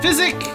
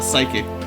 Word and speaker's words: Physic: Physic is, I always call it psychic, but physic is the way it's spelled.